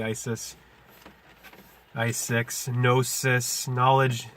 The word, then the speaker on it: Gnosis: I6, Gnosis, knowledge. The silent K in our knowledge corresponds to the silent G in Gnosis.